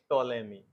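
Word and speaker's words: Ptolemy: Egypt का है Claudius टोले मी अंग्रेजी में हम लोग इसको याद करने के लिए बताते थे कि टोलमी नहीं कहना पी टोले पी साइलेंट है ठीक है लेमी यह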